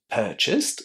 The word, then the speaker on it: purchased: purchased is pronounced with the t sound at the end while realized is pronounced with the d sound there.